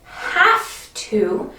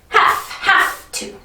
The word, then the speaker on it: have to: something with these words this letter is a v but when we use have to we don't say we use so it sounds like have to have have to and for these normally